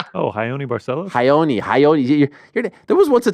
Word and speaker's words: Raoni: Carlos broches no no barcelos oh hon barcelos hyoni hyoni there was once a time where I